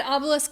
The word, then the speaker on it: obelisk: So I said obelisk later in the video properly. Well, your mom says obelisk, 2 syllables.